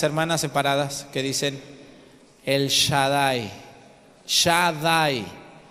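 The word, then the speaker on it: Shaddai: ahí con las hermanas separadas que dicen el Shadai Shadai s h a d d a i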